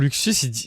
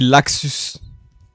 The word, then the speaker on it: Laxus: Déjà, pour Luxus, c'est écrit Laxus. Moi, c'est prononcé à la japonaise.